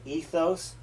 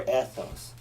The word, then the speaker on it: ethos: Now, you can say pathos or pathos, logos, you can't say logos, or you can say ethos or ethos.